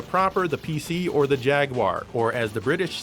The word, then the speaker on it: Jaguar: this the Amiga proper the PC or the jaguar or as the British say jaguar here's Simon the Sorcerer this one features a